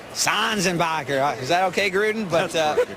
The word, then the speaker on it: Sanzenbacher: And how about Sanzenbacher? That's not how you say it. No, I say Sanzenbacher.